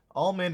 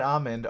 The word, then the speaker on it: almond: Almond and almond are correct pronunciations of the nut. It even says almond is the acceptable pronunciation. And love, it looks like and I've been thinking about it. And technically almond, almond, and also almond is all right. All three of them are correct.